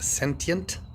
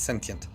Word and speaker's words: sentient: and this is pronounced sentient some uh some people have a difficult time with sence it's there's no s at the end it's sentient sentient beings all sentient